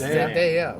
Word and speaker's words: Zendaya: Yes, Zendaya.